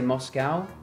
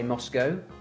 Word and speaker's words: Moscow: capital moscow moscow see americans say moscow we say moscow well you'd say cow c-o-w cow why won't be